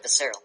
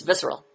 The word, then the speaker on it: visceral: it say that every becerril it's visceral okay okay good correction yes Sarah yeah I'm